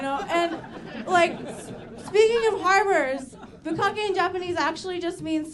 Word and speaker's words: bukkake: It's bukkake. It's the short vowel, right?